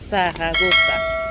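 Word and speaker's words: Zaragoza: français mais en réalité son nom c'est Saragosa d'accord c'est zarago ça mais comme en espagnol on ne prononce pas le Z on dit paranosa donc je suis là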